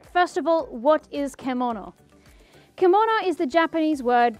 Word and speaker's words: kemono: Now, it is pronounced kemono in Japanese. So none of this keimono or kaimono or kimono anymore, or kemono.